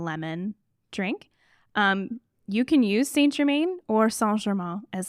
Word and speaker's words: Saint Germain: It is pronounced Saint Germain.